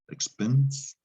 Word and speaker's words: expense: the english word expense english kept the french spelling with the silent e and you need that e to make an f sound because otherwise it's expense that s is going to make a z sound so know that for